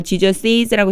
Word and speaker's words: Jesus': Jesus' mother, 제가 여기에 Jesus라고 안 읽고 Jesus'라고 쓰는 것은 바로 이 apostrophe 때문에요.